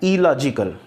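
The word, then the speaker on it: illogical: जहाँ पर भी ये डबल आर डबल एल आएगा तो आप उसको सिंगल बार ही प्रोनाउंस करें, इरेगुलर, इलॉजिकल, ठीक है, इलीगल।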